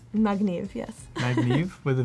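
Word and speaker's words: מגניב: Magniv, yes.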